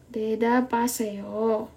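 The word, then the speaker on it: 대답하세요: atau latihan Jawablah Dabo Oke ingat ya teman-teman H ini kalau di tengah itu tidak kita anggap ya jadi De kalau tulisannya adalah dap ha se yo Tapi kemarin kita udah belajar bciim ya jadinya Deda Deda Deda Deda Paseo jadi kita langsung ya b ini ke a Deda Paseo Jawablah Deda Paseo kemudian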